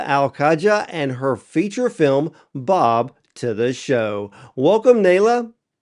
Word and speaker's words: Baab: So I want to make sure that the audience realizes that the title of your film is pronounced Bob, but it's actually spelled B A B.